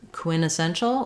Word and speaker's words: quintessential: So I think the two options are either quintessential without the T, but to me that sounds strange, and I don't think I hear that.